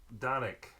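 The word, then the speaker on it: Dončić: Luca donovic how do you say it yep donik yeah donik d d donik he took the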